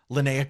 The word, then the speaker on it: Linnea: Lena Quigley. Linnea Quigley. I pronounce that wrong every single time.